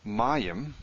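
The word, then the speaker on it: מים: Mayim, water. Mayim. Ugh, so annoying. It's streaking all over the place. Mayim. Mayim is water. It's in a dual. Who knows why? Stress is here, incidentally.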